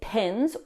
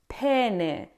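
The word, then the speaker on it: penne: The incorrect pronunciation is pen. It should be pen. Now, this is one of the most dangerous pronunciation mistakes to make in Italian. Double consonants are super important in Italian because they can completely change the word's meaning.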